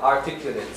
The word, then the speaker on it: articulate: This is as an adjective called, pronounced as articulate. If it is a verb, articulate. See? Yeah? Audible. Audible. Any? You can listen to it. As an adjective, the pronunciation is articulate, not articulate. Articulate is the verb.